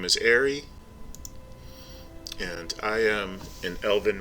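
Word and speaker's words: Eyrie: Aerie, Just A-R-Y or? E-Y-R-I-E. But, Ooh. you know, if you write it like you pronounce it, it would be A-R-Y. Or Aerie, like airy water, the spell.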